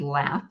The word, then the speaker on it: Laff: website is really easy my last name is laugh the easy way to spell that word it's l a double f as in frank so it's laugh